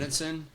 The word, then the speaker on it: Solzhenitsyn: Solzhenitsyn? Alexander Solzhenitsyn? Yeah, I've read Gulag Archipelago, is that how you but I've never pronounce his name?